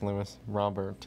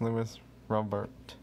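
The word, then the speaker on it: Luis Robert: I believe his name is Lewis Robert is how you pronounce his name.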